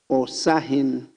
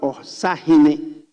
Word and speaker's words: Osahin: So he has put there Osahin. It's not Osahine. It's different pronunciation. It's Osahin. There is no E-hine.